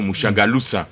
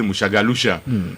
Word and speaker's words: Mouchagaloussa: Vous l'avez dit, d'ailleurs vous êtes parmi les rares qui prononcent bien ce nom, Mouchagaloussa. Les autres disent Mouchagaloucha. Donc je suis effectivement le coordonnateur national du panel des experts de la société civile.